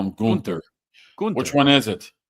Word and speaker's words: Gunther: That everybody in the company does not pronounce Gunther's name right. Some call him Gunther, some call him Gunther.